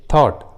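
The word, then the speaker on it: thought: के बाद आते हैं तो जी और एच साइलेंट होता है, जी एच का उच्चारण नहीं करते। जैसे थॉट, बॉट, ड्रॉट, देखिए तीनों इंग्लिश वर्ड्स में जी और एच एक साथ है और तीनों ही वर्ड्स में जी और एच वॉवेल के बाद आए हैं, यू के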